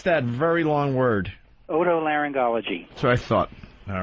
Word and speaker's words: otolaryngology: How do you pronounce that very long word? Otolaryngology. That's what I thought. All right. Otolaryngology.